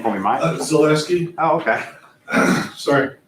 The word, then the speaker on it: Zaleski: Zaleski, Oh, okay. sorry, Spell it for me if you don't mind.